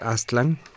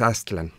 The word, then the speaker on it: Aztlan: niños no pero bueno los nombres nahuas son son graves se pronuncian de manera grave entonces él lo correcto es aztlán no y desde luego